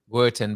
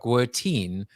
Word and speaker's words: Guertin: last name is not Guertin, but Guertin, rhymes with 13.